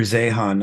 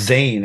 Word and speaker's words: Zeihan: His name is Peter Zeihan. I don't know if you've ever heard of him. I have heard of him, and Zeihan. okay. I think he's pronounced Zane, actually.